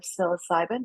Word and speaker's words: psilocybin: will be funded if it's an analog of psilocybin is that what you're asking I think so